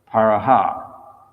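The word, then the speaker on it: paraḥ: Just like in the Sanskrit, the transliteration, the second line says paro, but in the word for word synonyms, it's written as paraha. So we pronounce it like that in that case.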